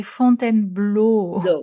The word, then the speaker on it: Fontainebleau: So we say font and blow. Font. Yeah. Exactly. So you scouted font and blow five countries.